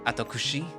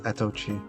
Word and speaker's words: Atochi: it a try so Mr atokushi the tiger looks at me with a nervous expression actually it's atochi the tiger says with the kind smile on his face probably used to people mispronouncing his name sorry sir mind if I